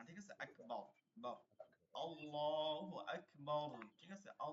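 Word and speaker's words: الله أكبر: তাকবীরে তাহিমা বলা যেটা উচ্চারণটা হচ্ছে আল্লাহ আকবার আচ্ছা আমার সাথে সাথে এবার পড়েন সবাই আল্লাহু আকবার বলেন বলেন সবাই আল্লাহু আকবার মাইক্রোফোন অন রাখেন আল্লাহু আকবার এই যে এই যে দেখেন আকবার এই যে আকবার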